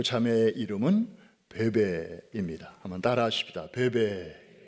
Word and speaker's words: 뵈뵈: 햇던 한 자매를 만나게 됩니다 그 참에 이름은 베베 입니다 한번 따라 쉽다 배배 아 베이비 가 아니고 한번도 패배 아 영어식 발음으로는 peb 프레디 혹시 여러분 어린 자녀나 또